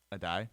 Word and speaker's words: Addae: Addae. Addae is the cornerback's coach from the University of Miami.